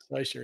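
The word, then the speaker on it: Seisia: Seisha or Seisha? It's pronounced differently. Oh, hang on. There. Yeah, he's put it up here. Seisha. Yeah, Seisha. There you go. Seisha, it's pronounced.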